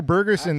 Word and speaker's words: Bergersen: How do you say your last name? Bergensson. Bergerson. Bergerson. Yeah, it's Norwegian.